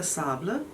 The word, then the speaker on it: Sable: is the su la sable i think that's how you say it because you say table table so it's spelt uh sable though and um there